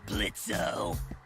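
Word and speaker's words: Blitzø: Uh-huh, sure, Blitzo. The O is silent now, bitch.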